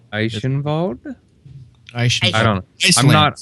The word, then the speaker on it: Eichenwald: Einschwald? Eichenwald. It's Heinschwald. I have It's to remember. Weinschwald? It's Eichenwald. EI Eichenwald. I grew up in Germany. The Eichenwald. W. Eichenwald?